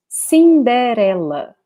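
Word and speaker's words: Cinderela: is very famous so pretty much the same just the pronunciation is different we say cinderella cinderella cinderella okay and it's very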